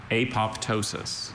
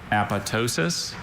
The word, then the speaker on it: apoptosis: Apoptosis, aptosis, apotosis, apoptosis. Okay. May I have all the information, please? Sure. I have four variant pronunciations. There is apotosis, apoptosis, apotosis, and apoptosis.